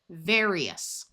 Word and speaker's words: various: Various. AR before another vowel usually has a long A sound.